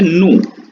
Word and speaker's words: nous: होता है वी, तो उसको कहा जाता है नू, NOUS, नू।